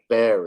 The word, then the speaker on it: very: And if you're going to speak good English, you got to put a V and not a W. Okay? Ba- Very. ba- Yes. Very.